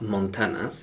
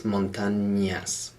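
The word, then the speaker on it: montañas: in las montagnas and notice we've got an n with a squiggle over the top the letter that's called enye so it's not montanas it's not like hannah montana it's montanyas so make sure you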